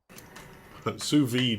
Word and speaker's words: sous vide: Sous vide is how you pronounce it, apparently.